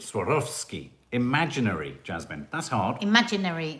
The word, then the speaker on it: Swarovski: tragic obviously francesca bastos the w and swarovski comes from the german pronunciation in german read w and v because the v usually sounds like f swarovski swarovski swarovski imaginary jasmine that's hard